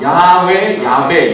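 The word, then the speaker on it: Yahweh: 아무튼 이 제이라는 발음이 이제 히브리어에서도 일로 넘어갈 때는 이제 제이라는 발음이 붙어서 제호바 이런 식으로 갔지만, 원래는 이런 야훼 이런 식으로 발음이 되어야 맞다고 합니다.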